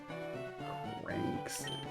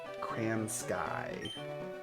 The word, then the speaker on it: Cransky: Cranksley. I can't do 101, so you're just gonna be Cranksley. Oh, I'm wrong. It's Cransky. Like Cranberry Sky.